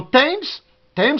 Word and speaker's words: Thames: Mais dans Thames, la Tamise, c'est T. TH, c'est T. Dans Thames seulement, je crois. This is my thumb.